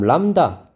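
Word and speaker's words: λ: 그다음 람다. 이게 파장입니다. 람다라고 읽어요. 람다.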